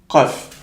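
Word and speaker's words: قاف: Qaf. Pourquoi? C'est parce que, comme on a dit, la langue, elle va venir toucher le palais mou.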